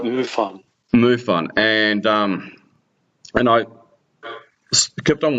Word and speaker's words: MUFON: Did I pronounce that correctly? Oh, that's right, MUFON.